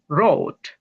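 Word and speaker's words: wrote: ডাবলিউ হবে না আর হবে। তার মানে এটা হবে রোট। ডাবলিউ হবে না।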